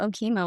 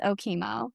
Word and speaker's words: Okemo: I don't know what OKO was I I think I even pronounced it ok which is now a huge issue for me everyone it is OKO I at the time